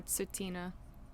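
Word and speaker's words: Tsuut'ina: I believe it's yeah sutina okay thank you Ray yeah you're so good at this uh OHA so the T isn't pronounced the at the beginning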